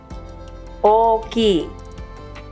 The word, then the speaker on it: 大きい: 姉お姉さん The word for big has a double length o at the beginning. 大きい One major difference between hiragana and katakana is how these long vowels are written.